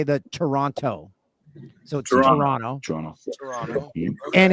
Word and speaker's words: Toronto: Canadian it's t it's Toronto you don't pronounce the second T because Americans love to say the Toronto so Toronto Toronto Toronto and it's